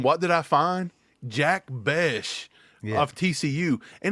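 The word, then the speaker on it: Bech: He pronounces it Besh. I thought it was Beck too, and the announcer said Besh.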